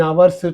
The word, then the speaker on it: hour: It's a hour means it's a hour, honor, hourly, all are silent H words.